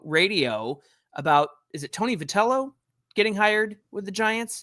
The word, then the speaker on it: Vitello: Look, I think it was Joe Madden talking to San Francisco radio about, is it Tony Vitello getting hired with the Giants?